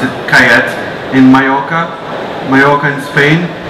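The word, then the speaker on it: Callet: three reds starting with kayette or calette they pronounce it kayat in mayoka mayoka and spain this grape is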